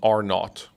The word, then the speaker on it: R naught: Because so when it comes to diseases, there's something called R naught, which is R0, but the zero obviously is not like nautical content, so it's spelled R-NAUGHT.